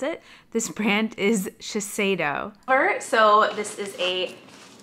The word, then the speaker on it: Shiseido: what was going on with my brain it's pronounced Shiseido and I said to cedo the entire video I am so sorry do not listen to that and think that's how you pronounce it this brand is Shiseido sure so this is a Shiseido makeup bag